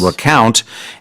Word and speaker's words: recount: So when we have an election, sometimes there will be a recount, which means counting again, but this is slightly different pronunciation. This is recount.